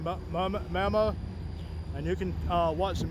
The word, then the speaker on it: mammoet: It's spelled mammoet, but a guy a while ago he kind of corrected me and said mammoet.